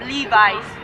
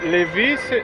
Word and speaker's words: Lévis: la ville de lévis libye mais c'est ça s'écrit comme lee vice comme la clé 10 lits vice et la moyenne de la zone oui mais ça mais ça ne l'est pas c'est une ville c'est lévis c'est une ville puis huit différentes déclin et